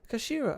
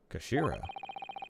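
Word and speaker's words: 頭: It's written as head in Japanese, but it's pronounced as Kashira, I believe. Kashira.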